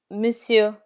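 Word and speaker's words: monsieur: Sir or gentleman is misu. In misu the final R is never pronounced.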